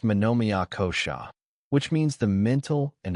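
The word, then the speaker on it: manomaya kosha: Deeper than breath lies the mental layer called manommyakosha pronounced manomia kosha which means the mental and emotional body.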